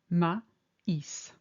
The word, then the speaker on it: maïs: Similarly, in maïs, it indicates that both the A and the I are pronounced distinctly, maïs.